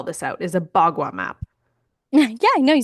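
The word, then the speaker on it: bagua: might have to spell this out is a BWA map. Yeah, I know. You said it perfectly. And how do you spell it?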